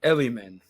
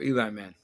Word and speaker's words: Elliman: I think the way you pronounce it is Yvonne Elliman, or Eli Man.